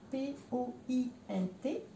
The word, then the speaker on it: point: Donc le point, ça s'écrit P-O-I-N-T. Ça se prononce point. Les N-O-I-N, c'est un ouin.